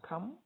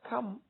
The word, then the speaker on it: come: You can see that come has 2 vowels in it, O and E. But because the E is silent, the word is not come, so you now have just 1 syllable.